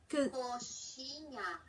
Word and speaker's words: coxinha: Ah, and you pronounce it Coxinha. Coxinha or Coxinha.